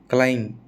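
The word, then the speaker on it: climb: टूम, लैम, date, डेप्ट नहीं, कर्जे को बोलते हैं डेट, है ना, डेप्ट नहीं बोलना, डेट, क्लाइम, ठीक है, बी नहीं बोलना, कुल मिला के बात ये है।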